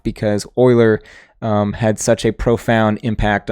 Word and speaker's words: Euler: off but it's not it should be ferrous boilers day off because euler had such a profound